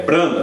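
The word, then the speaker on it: Branham: Mas quando ele pronunciou que é Brana, B-R-A-N-H-M, perfeição, aí veio o que?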